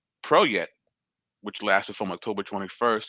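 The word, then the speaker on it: Peret: lasted from June 21st to October 21st, emergence, pronounced Proyet, which lasted from October 21st to February 21st, and summer, pronounced Shomu, which lasted from February 21st to June 21st.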